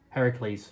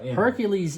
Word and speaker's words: Heracles: name supposed to be Heracles Heracles because he is the son of Hercules is a well here's the thing Hercules is the Roman pronunciation Heracles is the Greek pronunciation um his his father